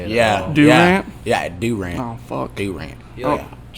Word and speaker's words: Durant: say it right or don't say it all Durant yeah Durant oh rant you